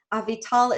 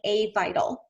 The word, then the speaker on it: Avital: Avital is spelt like Avital. It's just not pronounced that way.